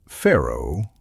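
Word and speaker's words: faro: pronounced pharaoh and descended from a French game called ferron.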